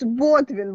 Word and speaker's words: Ботвин: И Макс Ботвин, вот, говорит, ударение на первый слог.